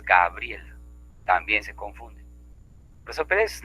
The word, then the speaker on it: Gabriela: Decimos Graviela, cuando lo correcto es Gabriela.